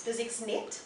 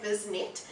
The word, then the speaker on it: BizXnet: oh the name yes physics net uh a bit difficult for people to to pronounce I keep I keep doing that yes yes um people are are are proone to say buset and the whole whole